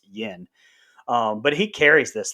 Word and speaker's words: Yeun: a walking dead and i actually was totally pronouncing his name you in until the director commentary we actually learned it's yen um but he carries